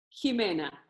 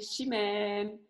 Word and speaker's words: Ximena: Vas-y, prononce-le bien, que tout le monde le prononce bien. Jimena. Tu peux répéter? Jimena. Bon, ici, tout le monde me dit Chimène, Ximena, n'importe.